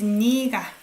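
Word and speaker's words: 네가: good good challenge so this one you pronounce it as niiga okay you with subject particle because if you pronounce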